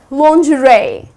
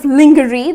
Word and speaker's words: lingerie: that's that correct pronunciation another word that is mispronounced is lingerie although if you look at the spelling it's kind of lingery that's how people tend to pronounce it but that's incorrect the correct pronunciation is lingerie and what's